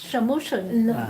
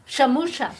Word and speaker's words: সমস্যা: So it's the pronunciation that is different. Instead of samosa, it's shamushan. No, it's a different words. সমস্যা Shamusha সমস্যা means problem.